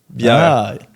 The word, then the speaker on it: bière: Yeah, it sounds close to beer. Yeah. Yeah. Okay. How do you spell it? Bière, B-I-E, but there's a little like accent. Yeah, R-E. Bière.